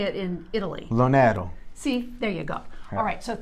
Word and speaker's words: LoNero: Hi guys, Pronounce how are your you? last name. LoNero. Now, if it's Italian, so Yes. how would they say it in Italy? LoNero.